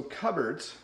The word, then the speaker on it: cupboards: So cupboards, notice it's not pronounced the way it looks.